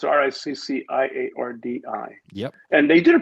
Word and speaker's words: Ricciardi: it's Peter Ricciardi, and it's Ricciardi.